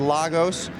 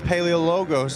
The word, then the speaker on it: Paleologos: I said Lagos. That's wrong. It's Paleologos, and we're getting it right because he keeps making it up on the box.